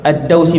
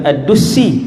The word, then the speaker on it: Ad-Dausi: Hak tadi yang saya lupa saat ni, Tufail bin Amr Ad-Dausi, bukan Ad-Dusi, salah baca tu, Ad-Dausi, daripada kabilah Daus.